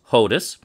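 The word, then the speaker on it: חודש: In ancient Hebrew, by the way, there's no CH. It's just H. Who knows where that comes from? It sounds like something from Slavic languages, which would make sense because it's Yiddish in pronunciation. Likely never actually Hebrew.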